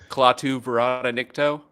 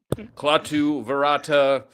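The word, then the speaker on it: Klaatu barada nikto: That's just Clatu Vera Nikto. No, you said it wrong, sir. There's claw at this. Yeah, you can get a lot closer to what he says than I can, man. Clatu verata.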